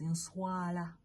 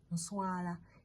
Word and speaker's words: nswala: So the next one is nswala. Nswala, NSWALA. Nswala. Okay. Nswa, that's 1 syllable.